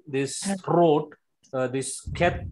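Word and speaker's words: חית: It should come from throat.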